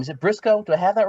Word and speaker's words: Briscoe: Is it Briscoe? Do I have that right? Yes, it is Briscoe. Like County Jr.